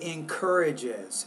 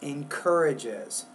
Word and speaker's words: encourages: You want to say encourages, encourages. So you're kind of missing that syllable at the very end of that word.